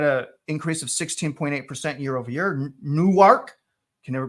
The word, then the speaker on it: Newark: So if you're from New Jersey, Travis, it's Newark. Newark is how you pronounce it, but Newark if you're from New Jersey.